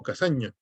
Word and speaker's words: Cassany: el profesor de daniel cassany o casaña como se pronuncia en catalán pone en su libro